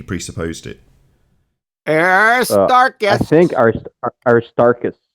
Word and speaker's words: Aristarchus: think Aristarchus.